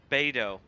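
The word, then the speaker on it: Beidou: out of the way beto that is okay that is how you say her name good to know because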